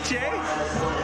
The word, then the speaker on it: Gueche: That's not how I heard it pronounced, but it is Gueche, representing Jackrabbit Boxing out of Long Beach.